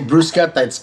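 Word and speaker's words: bruschetta: so Nino describe well just open up the dictionary and when you read it it'll say brusett it's it'll it'll say it the way it's supposed to be said it's spelled differently though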